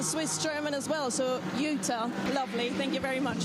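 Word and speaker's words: Juta: Okay, Utah Racing, yeah. So that's it's Lithuanian.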